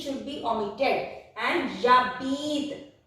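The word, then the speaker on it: j'habite: If two vowels come together and it is E here, E should be omitted. No other vowel should be omitted like this. Only E should be omitted. And Jabit.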